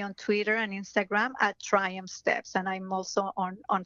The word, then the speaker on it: Triumph: My website is Triumph Steps, Triumph, and I'm going to spell it. People think that I've said Trump. It's not Trump. It's Triumph. Close, but it's Triumph.